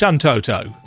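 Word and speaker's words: Shantotto: Oh, it is pronounced Shantoto.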